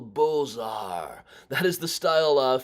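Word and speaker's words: Beaux-Arts: here I believe yeah Bulls are that is pronounced I always feel weird pronouncing it like that if you don't know what it's spelled like it's just it's like bizarre architecture but that was very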